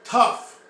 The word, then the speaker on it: tough: So, tough, T-O-U-G-H, which is pronounced like tough, T-U-F-F, means strong.